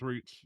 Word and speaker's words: Reitz: for Reitz or Rates. I don't know how you say his name, but was it Reitz? It's Reitz. Yeah, it's Reitz.